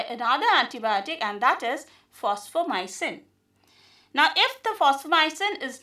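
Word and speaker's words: Fosfomycin: Phosphomycin is also called phosphonomy or sometimes instead of F we can use PH also. So it is again pronounced as phosphomycin only.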